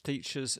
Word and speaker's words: teachers: The stress is on the first syllable. Teach. Teachers. Not teachers. It's teachers.